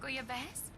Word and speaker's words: bouillabaisse: Can you cook bouillabaisse? Bouillabaisse? Okay, that's how you pronounce it.